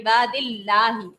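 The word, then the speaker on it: عباد الله: پھر اللہ تبارک و تعالیٰ کے لام سے پہلے زیر ہے تو یہاں پر باریک پڑھیں گے. عباد اللہ, لاہی نہیں لاہی.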